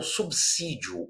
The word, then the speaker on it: subsídio: Então, subsídio, o S é sibilante, não é com o fonema Z, né?